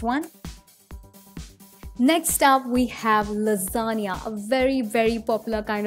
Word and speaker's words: lasagna: have so it's called lasagna lots of people mispronounce it so please take care of the correction uncie ation it is lasagna let's move on ahead and the next kind